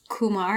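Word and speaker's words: Qumar: It's called The Women of Kumar. Is that how you pronounce it?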